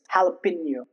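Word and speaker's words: jalapeño: Jose it's Jose okay It's not jalapeno, it's jalapeno.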